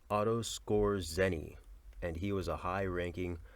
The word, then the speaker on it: Otto Skorzeny: I hate to have said yeah I'm gonna pronounce it that way the man's name is Otto Skorzeny Otto Skorzeny and he was a high-ranking warm-up officer one